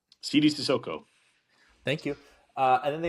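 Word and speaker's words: Sidy Cissoko: How do you pronounce this other guy's name? Sidi Sissoko.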